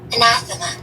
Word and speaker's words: anathema: Anathema.